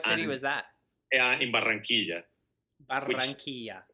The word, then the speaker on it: Barranquilla: in Barranquilla. which Barranquilla. Barranquilla, exactly.